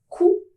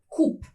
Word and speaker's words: coup: Coup, c'est un mot masculin qui se termine avec un P, mais cette dernière lettre n'est pas prononcée. On ne dit pas coupe, attention, on dit coup.